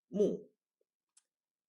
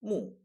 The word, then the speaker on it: 木: roots this is of course wood and it's pronounced 木 mù 木 mù 木 mù you would get this is a